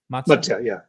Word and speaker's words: Matsya: Matsya, yeah.